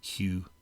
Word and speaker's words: Qing: That's how you pronounce that uh Qing, by the way, in uh in Pinyin uh transliteration of of Chinese, the Qing dynasty.